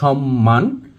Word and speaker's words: সম্মান: যুক্ত রয়েছে, কিন্তু প্রকৃতপক্ষে এখানে যুক্ত রয়েছে ম ফলা। এই জন্য আমরা এখানে ম ফলার উচ্চারণটা করব, অর্থাৎ আমরা সম্মান না বলে বলবো সম্মান এবং যুগ্ন না বলে বলবো যুগ্ম।